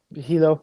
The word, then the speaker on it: Hilo: Uh every time I'm in uh Hilo. Am I pronouncing it right? Hilo or Hyo? Hilo. Yeah.